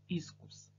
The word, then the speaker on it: искус: Представляете, что такое искус? Искус, правильно, почему-то иск, потому что вот эта система иск там мощно действующая, поэтому грамотно ударение искус ставить.